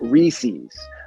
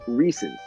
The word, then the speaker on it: Reese's: Gary Baba Booey mispronouncing Reese's and calling it Reese's, but the correct pronunciation is Reese's. It is not Reese's. Yeah, it should be. I mean, there's only one E after the S.